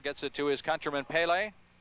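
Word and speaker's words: Pelé: it to his countryman Pele Pele as it's more properly pronounced 26 12 left to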